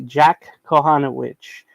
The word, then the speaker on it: Kohanowicz: The Angels do have a rookie coming up, Kohanowicz, will be Jack Kohanowicz. The C is silent at the beginning of the letter. I mean, the third letter of the name, by the way.